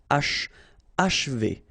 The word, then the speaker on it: achever: And then if you want to pronounce it the way French people will do, so don't insist too much on this and you will get achever, achever. It's a bit tricky, this combination of sh and v after, but then achever.